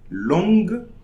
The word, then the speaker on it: longue: G-U-E. Okay, so we are going to pronounce the G only, but like an hard G, like the G in go. Okay, but we are not going to pronounce the E and the U.